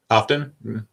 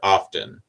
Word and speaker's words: often: Often? Do I pronounce the T in the word often? I often do, but not all of the time.